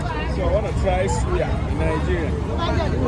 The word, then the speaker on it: suya: Why you call it soya? It's suya. I Suya. love this thing. I'm going to suya. That's soya. I'm going to suya. If you don't pronounce the suya right, I will suya.